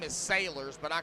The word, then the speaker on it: Salyers: It's Slayers to me, folks. It's Slayers right now. Austin Slayers. Wait, so what's his real name? Sailors. S-A-L-Y-E-R-S. Sailors.